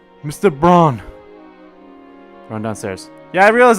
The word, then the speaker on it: Braun: Brown! Mr. Braun! Run downstairs. Yeah, I realize I've also been saying his name wrong too.